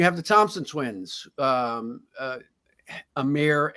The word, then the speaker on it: Amen: the Thompson Twins um Amir and Asar I believe is how he pronounces it who also are playing